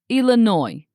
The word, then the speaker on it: Illinois: Also remember about the silent s. It's pronounced Illinois.